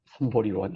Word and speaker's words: 삼보리: 삼보디원, 삼보리원 해도 됩니다. 삼보리. 보디를 보통 보리라고 읽기 때문에.